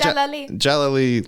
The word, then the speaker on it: Jalali: British Iranian director babak jalali is it jalali or Jal oh you did it is it J jalile like Galilee yeah so you the emphasis always on the last syllable okay Jal Jal baback